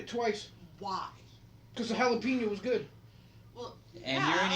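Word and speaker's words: jalapeño: But Plus it wasn't a hot jalapeno, but You're pronouncing no. it wrong. It's jalapeno.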